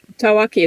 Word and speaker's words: Tawaki: penguin that we're going to be discussing the taaki how's my pronunciation taaki is perfect yeahi orak what we knew about